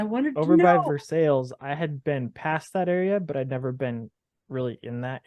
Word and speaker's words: Versailles: the map, you would see it as Versailles, like the Palace Versailles from France. But in this part of the world, you are quickly identified as not being from the local area when you say it like that. It's Versailles. They say Versailles.